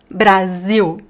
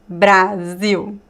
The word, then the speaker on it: Brasil: The "i" in Brazil is really open. It's not "bra". It's "bra". And the "l" is not "o". It's "u". So if you want to